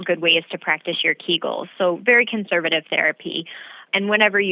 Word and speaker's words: Kegels: And you are saying it correctly, it's Kegels.